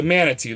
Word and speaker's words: Manitou: Yeah, it's the Manitu. That's how you say it. That movie sucked though, man. It was stupid. I heard a podcast once about the Manitou, which had me intrigued, but I've never actually watched that movie.